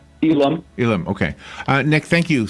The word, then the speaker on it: Elam: Nick, I don't even know if I pronounced your last name correct. Is it Elam? Elam.